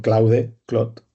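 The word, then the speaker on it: Claude: muchísimos, os lo aseguro, es el que pronunciaríamos en castellano Cloue Clot, ¿no?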